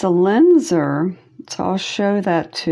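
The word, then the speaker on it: Lisner: It's a Linzer.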